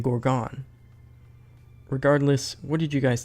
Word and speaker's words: Gorgon: of n humans terms previously I thought it was Attila and Gordon but apparently it's actually Adeline and Gorgon regardless what did you